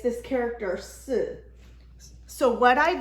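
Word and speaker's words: 是: In Chinese, the pronunciation for the for is, am, or are is si. So it almost sounds like the number 4.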